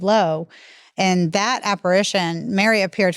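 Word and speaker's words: Laus: spelled l-a-u-s so um which I always say Lao but it's our lady of low and that Apparition Mary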